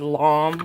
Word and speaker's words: lame: Okay, so now what I need is I need my bread lame, or as they pronounce it, bread lom, which is so stupid.